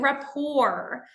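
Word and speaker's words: rapport: look at is building raor so building raor I know it's a French word but we actually use this with the sameish uh pronunciation in English so raor is a nice Dynamic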